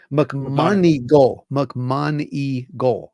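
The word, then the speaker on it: McMoneagle: McMonigal.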